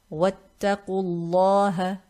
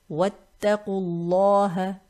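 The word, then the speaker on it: وَٱتَّقُوا۟ ٱللَّهَ: We're going to drop the mad and connect the letter before to this Laam in lafzul jalala using the rule of Hamzatul Wasl. If you remember the rule, when there's a Hamzatul Wasl, preceding it is a mad letter, we drop the mad and we connect the letter before to the letter after the Hamzatul Wasl. So we read this as Wattaqullaha.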